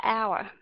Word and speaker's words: hour: Bạn cũng biết là cái chữ đó là đọc là hour, mình không đọc âm hát phải không, âm h, bạn biết tại sao không?